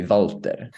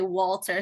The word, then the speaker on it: Walter: but um Walter so it's written like with the w but I swear I've heard in the show that it's pronounced like a V so how would you